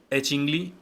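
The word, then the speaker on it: achingly: और तीसरा है एचिनली। एचिनली, ये जी यहाँ पे साइलेंट आप बोल सकते हो।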